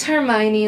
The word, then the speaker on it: Hermione: I liked Hermione, like, standing up to Cho, being like, okay,